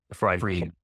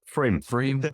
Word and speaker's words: Frame: Frame. Friend. So you said? Frame. Okay. Frame. Like dream.